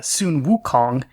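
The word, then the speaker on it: Sun Wukong: is given this name the name soon Wukong the original Chinese pronunciation of song Goku you know same characters pronounced differently across different cultures but anyway he's given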